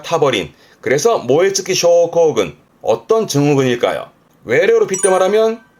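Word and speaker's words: 燃え尽き症候群: 그래서 모에츠키 쇼코군. 어떤 증후군일까요? 외래어로 빗대말하면 발음은요, 방아웃도 신도로움.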